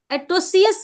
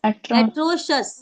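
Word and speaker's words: atrocious: yes pronounce this everyone's एट्रोसियस नहीं नॉट सीियस एट्रोशस श एक षटको वाला स होगा श एट्रोशस एट्रोशस एट्रोशस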